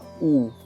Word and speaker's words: у: And the sound it makes is oo, oo, oo, like in book.